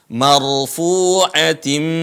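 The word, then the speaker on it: مَرْفُوعَةٍ: tiib Fi shhufim Mukaromah marfuatim mahar diikutin ya marfu di sini ada ro sukun kita sebelumnya telah membahasnya ketika ada ro sukun sebelumnya adalah fathah maka rnya dibaca tebal Mar Bukan dibaca Mar marfuatim Mar kalau dibaca tu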